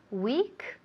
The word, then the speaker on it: weak: Weak se pronuncia igual, absolutamente igual a la palabra semana en inglés. Week, débil, week, semana.